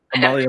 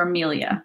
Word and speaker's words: Amalia: Amalia Melina. Yeah. Amalia. Mm-hmm. I called her Amelia, which was a nice mashup of the two.